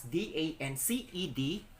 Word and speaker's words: danced: the present tense and the past tense is danced so it is the son of two though it is written as d-a-n-c-e-d it is pronounced as the sound of two so we